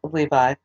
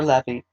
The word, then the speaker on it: Levi: this reason he was named levi or levy you can pronounce it either way then she became pregnant